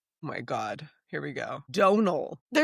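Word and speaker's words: Domhnall: Donal. There's no N. Donal.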